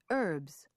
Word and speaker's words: herbs: There are a few words in American English where the H is not pronounced. Herbs, honor, hour, air, honest, honestly.